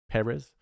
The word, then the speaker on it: Pérez: I pronouncing that right PES yeah because the accent is on the first e Peres it's available on Netflix